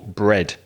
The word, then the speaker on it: bred: past and past participle bread b-r-e-d the same pronunciation as pan bread but a different spelling so breed bread bread